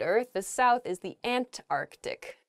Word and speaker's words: Antarctic: the south is the Antarctic there's sort of like almost a hiccup in the word there Antarctic oh uh in a